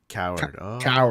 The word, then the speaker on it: Cowherd: Coward.